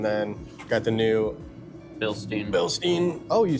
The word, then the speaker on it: Bilstein: Bilstein.